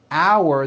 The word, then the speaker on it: hour: Also, while we are on the subject, note the word hour that is used for telling time is pronounced exactly the same way as in our meeting is in one hour sentences.